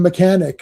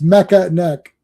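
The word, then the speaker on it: Mekaneck: That one fellow that one guy mispronounced Mecca and he called him mechanic.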